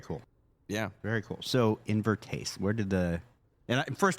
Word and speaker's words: Invertase: So, Invertase, where did the And first of all, am I pronouncing it correctly?